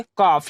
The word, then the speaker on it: calf: एफ के पहले एल है, तो इसे यहाँ एल क्या होगा हमारा, साइलेंट होगा, तब इसे हम क्या पढ़ेंगे, काफ, यानी एल को छोड़कर इसे हम क्या पढ़ेंगे, काफ, जिसका हिंदी मतलब होता है बछड़ा।